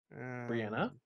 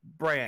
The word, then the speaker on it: Brienne: Brianna? Oh, it's it's the desert of Brienne. There's no A at the end of it.